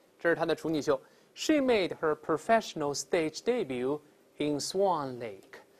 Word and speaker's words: debut: 秀，一般有个词叫 debut，后面那个 t 呢就不发音了，我们读一下这词 debut。